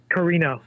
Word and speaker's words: Karina: Karina is how it's pronounced.